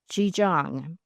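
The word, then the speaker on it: Zhijiang: The fifth fighter group established its base at Ji Jang. I know that's not how it looks, but that's how it's pronounced now.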